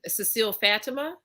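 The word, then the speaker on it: Cécile Fatiman: Okay, you brought up Cecile Fatima.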